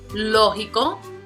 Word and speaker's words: lógico: Lógico. Aquí tenemos 3 syllables. So again, the prosodic accent is going to be on the first, which is the third to the last.